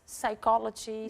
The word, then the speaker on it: Psychology: Is it like even the P is silent, isn't it? Yes. Psychology, psychotherapist.